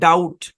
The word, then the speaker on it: doubt: যেমন DOUBT, এই শব্দের উচ্চারণ হচ্ছে ডাউট। কি উচ্চারণ? ডাউট। এখানে যে বি লেটারটা আছে, এই লেটারটা লেখায় আসছে কিন্তু উচ্চারিত হচ্ছে না। অর্থাৎ এই ডাউট শব্দের মধ্যে বি হচ্ছে সাইলেন্ট, এখানে বিটা সাইলেন্ট।